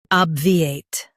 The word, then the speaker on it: obviate: In UK, stress OB and soften V8. Obviate.